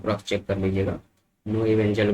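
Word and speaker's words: Knoevenagel: नो इवेंजल बोलते हैं हम लोग, है ना।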